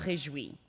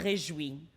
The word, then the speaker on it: Réjoui: Réjoui. Like it's rejoice, but like it's with a so it's réjoui.